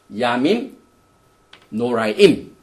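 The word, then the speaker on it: ימים נוראים: 그 다음에 이 히브리 말로는 야밈 노아님, 야밈 노라임 이렇게 발음을 하는데요.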